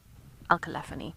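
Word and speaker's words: Alcelaphini: let me spell it for you a-l-c-e-l-a-p-h-i-n-i alkaline alkalaphony is how you pronounce it but it's easier to break it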